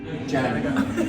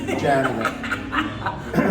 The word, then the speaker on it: Janega: And she was the one that came up with rhymes with Canada, Which is so good.